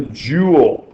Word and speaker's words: joule: Now, we also call this the joule, and that rhymes with pool.